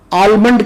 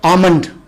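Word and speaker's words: almond: club से भी आनंद बादाम को हमारे यहां आल्मंड कहा जाता है जबकि इस मुए दाल जो है वह साइलेंट है और इसका सही तरफ से आनंद सब्जी को हमारे यहां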